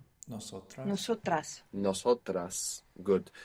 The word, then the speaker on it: nosotras: nosotras, Nosotras. Nosotras. Good. You pronounced an S there, which was very good.